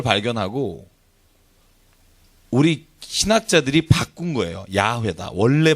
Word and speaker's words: 야훼: 야훼다. 원래 발음은 모음을 여호와로 잘못 붙였다. 그래서 여호와라고 잘못 붙인 발음을 나중에 고증을 통해서 고고학을 하다 보니까 아하 원래의 모음은 야훼가 맞다.